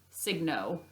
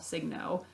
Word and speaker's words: Signo: This is in, I think you pronounce it, it's called it's a uni ball Signo, Uniball Signo, Signo.